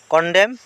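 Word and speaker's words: condemn: ইয়াতে and silent বর্ণ কন্ডেম কন্ডেম মানে বেয়া হওয়া ইয়াতে এন্ড সাইলেন্ট বর্ণ ওকে তোমার লোকে বুঝি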